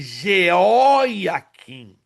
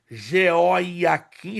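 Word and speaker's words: Jeoaquim: Existe na Bíblia Joaquim, já leram Joaquim e Jeóquim. Cuidado, catraca de canhão e conhaque de alcatrão são coisas diferentes. Joaquim é uma coisa, Geóiaquim é outra coisa. Então cuidado para não confundirmos as pronúncias.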